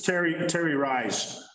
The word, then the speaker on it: Terry Rice: Oh, it's Terry Rice.